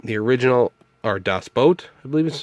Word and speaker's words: Das Boot: Das Boot, the original, or Das Boat, I believe is how it's actually pronounced.